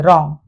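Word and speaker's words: wrong: और रॉन्ग, डब्ल्यू के बाद आर होने की वजह से डब्ल्यू को हम यहां पर साइलेंट कर देंगे, रॉन्ग।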